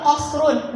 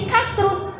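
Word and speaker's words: قَصْرٌ: Misalnya tadi mufrad yang kedua qasrun bil qaf aul kaf. Qasrun bil qaf aul kaf. Qaf. Kalian salah baca misalnya jadi kasrun, anak pun akan ikut salah nantinya dan beda arti lagi kan?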